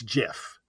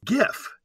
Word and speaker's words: GIF: this is the problem the person who invented the process said it's Jiff we all say gif what do you do now we got a lot of calls on this one and people were correct it really is GIF despite what the inventor said Jeff stands for graphics interchange format and it makes sense to say it's a